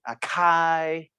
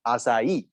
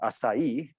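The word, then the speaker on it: açaí: the correct pronunciation is acai okay the c with a little tail at the bottom you can pronounce it as an s sound s sound so acai that's the fruit and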